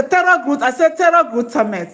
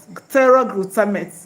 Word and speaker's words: pteroylglutamate: Okay, pteroylglutamate. Pteroylglutamate. Okay? Okay. Pteroylglutamate. The pteroylglutamate starts with P. P T E R O Y, then glutamate. The P is silent. Pteroylglutamate.